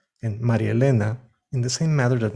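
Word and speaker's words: María Elena: names like jose luis or maria elena are pronounced jose luis and marielena in the same matter that marianne and billy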